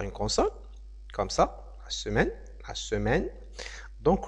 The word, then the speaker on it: semaine: consonne comme ça la semaine la semaine donc le E ici ne se prononce pas d'accord c'est pareil pour